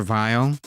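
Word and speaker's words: Weil: It's pronounced Dr. Vile.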